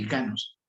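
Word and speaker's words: ἱκανός: En griego se pronuncia así, ikanos.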